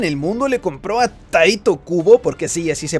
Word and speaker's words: Tite Kubo: ¿Crees que una sola persona en el mundo le compró a Tite Kubo, porque sí, así se pronuncia, que Ichigo perdió la vida en esta